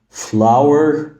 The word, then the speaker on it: flower: معناها الدقيق فنقول مثلا fl fl يبقى فلور فلاور فلاور لو الفيديو عجبك شير